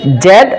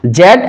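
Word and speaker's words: Z: Style আছে, সেটা হচ্ছে জেড অথবা জি, জেড অথবা জি। এটা ব্রিটিশরা উচ্চারণ করে থাকে জেড, আর আমেরিকানরা উচ্চারণ করে থাকে জি, এই হচ্ছে বিষয়।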